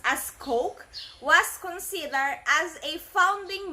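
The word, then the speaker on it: Koch: business okay Mr Coke in which it is pronounced as Coke was considered as a founding member of the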